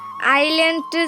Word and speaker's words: island: আইল্যান্ড যেমন উচ্চারণের সময় এসের কোনো গুরুত্ব নেই, তেমন পড়তে বসো এর টি এর গুরুত্ব নেই।